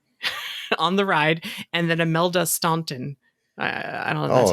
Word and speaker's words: Imelda: And then Imelda Staunton. I don't know. Oh, Imelda?